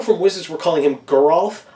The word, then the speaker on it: Geralf: I like Geralf. I like that too. Geralf sounds stupid. It does sound stupid, but I'm pretty sure that's even how Mark Rosewater pronounced it, which means that's the correct pronunciation if that's the way that he did it. I say Giralf, and I usually am a big stickler for pronouncing the names correctly, but I'm just so used to Giralf that's what I go with.